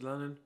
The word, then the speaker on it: Lannen: My name's Lannen, rhymes with Cannon, and today is Sunday.